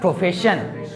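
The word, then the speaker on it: profession: जैसे इसको क्या बोलेंगे, टेलीविजन, जबकि इसको क्या बोलेगा, प्रोफेशन। यहाँ भी SION आ रहा है, यहाँ भी SION आ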